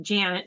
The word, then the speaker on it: Janet: Well, the cool thing is planet rhymes with Janet, so that was a that was awesome.